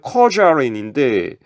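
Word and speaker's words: 客家人: 객가인을 중국어로 발음하면 커자렌인데 어딘지 카자르.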